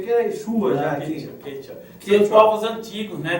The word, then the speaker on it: Quechua: Tem Quechua entre os Quechua, eles falam Quichua. Quechua, não é Quechua. Não, Quechua. E nós, os hispânicos, falam Quechua.